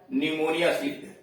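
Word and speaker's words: pneumonia: हाँ, आपकी बात ठीक है, पी का उच्चारण प होता है, लेकिन शब्द के शुरू में PN आ गया या PS आ गया तब पी साइलेंट है। जैसे साइकोलॉजी है, निमोनिया है।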